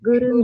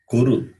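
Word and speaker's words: कुरु: Nirvignam Guru Me Deva. It is Nirvignam Kuru, not Guru.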